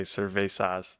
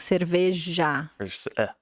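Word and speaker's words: cerveja: oh yeah Sur I every time I pronounce it I think I say cesas it's like Spanish yeah but with the the sounded like a j like Sur great job so he tried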